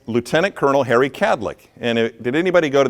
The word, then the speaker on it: Kadlec: So my first question I always ask is, how do you say the name of our organization? Kadlec, right? 2 syllables. Have you ever heard a 3rd syllable dropped in? To make it Cadillac, like the car?